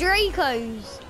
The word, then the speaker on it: Draco: It's not Dracos, it's Dracos! I call it Dracos, it's better. Well, they're Well, it's not actually, Chaz. You know it. Draco is dragon in Latin. You do know. No. And it's pronounced Draco.